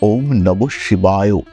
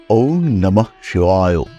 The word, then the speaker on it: ওম নমঃ শিবায়: অনেক সময় আমরা ভুল করি আমরা উচ্চারণ করি ওম নমঃ শিবায় এই উচ্চারণ কিন্তু নয় ওম নমঃ শিবায় শিবায় নয় শিবায় ওম নমঃ শিবায় এই উচ্চারণ আমাদের করতে হবে প্রতিদিন 108 বার